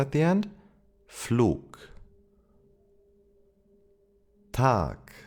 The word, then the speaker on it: Tag: And to complete the trio, we have the G sound, G, that if it appears at the end of a word, it is pronounced as a K, K.